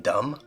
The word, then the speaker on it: dumb: Like, isn't it dumb that there's a silent B in dumb?